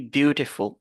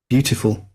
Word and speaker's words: beautiful: veut dire que quoi nous devons nous focaliser sur la première syllabe ok vous avez vu beautiful beautiful ok nous allons nous focaliser sur cette première syllabe là on va donc écouter